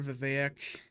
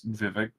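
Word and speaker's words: Vivek: important I don't know why you say his name like that it's Vivic I said it's V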